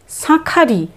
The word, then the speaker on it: শাঁখারি: উচ্চারণ তালাবস্যে চন্দ্রবিন্দু আকার, উচ্চারণটা হবে সাঁ, সা নয় সাঁ। খারি, শাঁখারি, শাঁখারি, যিনি শাঁখা তৈরি করেন তাকে বলা হয় শাঁখারি।